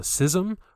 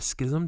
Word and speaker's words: schism: know that there was a sysm or a schism depending on how you want to pronounce it or a separation that